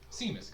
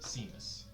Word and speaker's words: Seamus: Seamus Carter. Seamus? Seamstress? Seamus. Seamus? Seamus? Spelled like Seamus, pronounced Seamus.